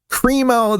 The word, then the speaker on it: Crimo: Oh, and by the way, the guy's name is Bobby Kremo III. And Kremo is spelled C R I M O. He's got Krimo right there in his name.